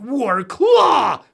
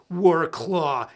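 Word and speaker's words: Wrocław: can't say the name for me it sounds like war claw Poland but it's like w-r-o-c-l-a-w and everybody that's Rumple and that pronounces it I'm like okay I get it but I call it work law it sounds metal so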